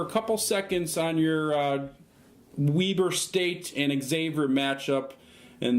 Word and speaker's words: Weber: No, not Weaver. Weber. Enjoy. This is the last thing I need right now. W-E-B-E-R. Oh, like Weber? Yeah, Weber. Weber Grill, but it's pronounced Weber.